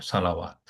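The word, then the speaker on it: صلوات: করতে হবে, দেখেন সালাওয়াত, তখন ওয়াটা উচ্চারণ করতে হবে সালাওয়াত, এটা প্লুরাল।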